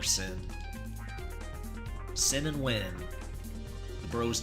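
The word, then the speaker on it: Synn: S-Y-N-N, you can just spell it like that. Let's call her Sin.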